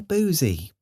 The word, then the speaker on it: Boosey: publishing house boozy and hawks okay and that's pronounced boozy oh see there we go either way graeme